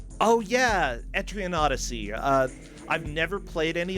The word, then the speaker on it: Etrian Odyssey: just now and right now this month it's entreon Odyssey pronounce it right oh yeah etrian Odyssey uh I've never played any of those games